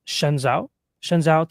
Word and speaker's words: Shenzhou: On the 24th of April, China successfully launched the, I think it's pronounced Shenzhou 20 crewed spacecraft to its Tiangong space station on April 24th, 2025.